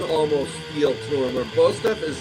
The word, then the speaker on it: Bostaph: Is that how you pronounce his name? Paul Bostaph. Yeah, Bostaph.